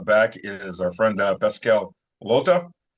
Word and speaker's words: Lottaz: Today with us back is our friend Pascal Lottaz. I was corrected. The Z is silent from neutrality studies.